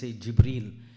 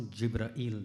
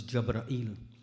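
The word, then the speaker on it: Jibril: you'll hear me say Jibreel, because these are the two ways the word has been pronounced. It's not Jibra'il, that's a wrong word. It's either Jibreel or it's Jabra'il with a fatha.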